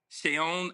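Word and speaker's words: Seun: Sheon Adigan. It's spelled like Sean or no.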